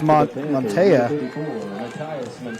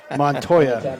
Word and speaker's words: Montoya: 30-yard line that's uh matthias montea did you say that twice i didn't say it right montoya the return for the